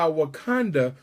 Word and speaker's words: Wakanda: if you're wondering why Wakanda rhymes with Uganda is because the original